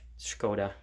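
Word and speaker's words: Škoda: from czechoslovakia so skoda s with the carrot is pronounced like sh skoda this is a 120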